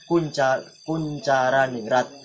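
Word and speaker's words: Koentjaraningrat: Nah, karena masih menggunakan ejaan lama, jadi dibaca Koenjaraniningrat. Jadi Kuncaraningrat.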